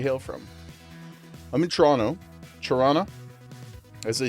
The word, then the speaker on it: Toronto: Toronto, as they say, if you're from here, you're not allowed to pronounce the T's.